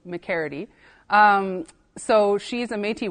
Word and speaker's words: McGarrity: And Harriet McCready or McCaridy, um, it depends on who you ask. The Métis names can get a little tricky with pronunciation. Um, but it is an Irish last name, so McCaridy.